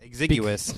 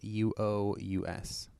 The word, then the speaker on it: exiguous: So I think it's exiguous is how it's pronounced. Yeah, I had to look at the pronunciation guide for that one because I was like, is it exiguous or exiguous or is it exiguous? Usually it is exiguous if I remember correctly. I didn't write down the pronunciation guide, but I'm pretty sure it's exiguous. But it means basically meager, small, or slender.